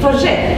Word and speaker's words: Forget: And this is very important for us because Evelyn Forget, I don't know every time how to pronounce his name. Forget, yes, right. Evelyn Forget gave here a